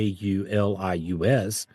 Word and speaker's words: IVLIVS: The first I wasn't pronounced like E. It was pronounced like a Y.